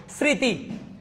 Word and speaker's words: স্মৃতি: তার মানে কি মফলাটা যদি শব্দের শুরুতে থাকে এটা কখনো উচ্চারণ হবে না। মাশাআল্লাহ, অনেকে শুদ্ধ উচ্চারণ দিয়েছেন। স্মৃতি, দেখেন মফলা আছে, এটা উচ্চারণ হচ্ছে না।